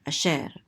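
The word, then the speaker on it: אֲשֶׁר: shin with a segol, so it says so this is she, and this resh closes out the syllable to say sher, asher.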